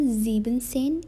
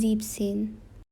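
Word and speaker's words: siebzehn: and seine is zexin now this is an exception that s in between is cut zebzen it is 17 in german now this is also an exception it is not zebensen it is zip sin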